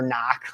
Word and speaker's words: knock: know and like like knock having a freaking silent k before knock like it's Canuck no